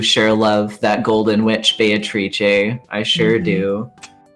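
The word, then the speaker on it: Beatrice: atrie I sure do wait is that how you pronounce it that is in fact how you pronounce it oh well I learned something new every day the Italian pronunciation of the name yes she's Italian clearly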